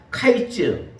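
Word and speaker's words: קיץ: 카이츠, 카이츠라고 그랬습니다.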